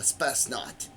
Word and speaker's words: Spetsnaz: Anyway, so Spetsnaz. Do you know what that is? A Spetsnaz. And I'm saying it in Russian.